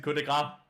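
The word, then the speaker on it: coup de grâce: Cut the grass in coup de grace.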